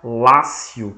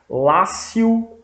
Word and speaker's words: Lácio: se chama Lácio Lácio em italiano eh em italiano não em latim a gente fala Lácio escreve c com c l a c i o Lácio em latim pronuncia-se Lácio mas se escreve com T escreve latio é daí que vem